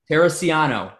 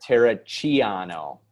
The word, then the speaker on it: Terracciano: straight italian right yeah is that how you pronounce it in italian no we're not saying italian then we gotta hear it tara chiano okay i gotcha but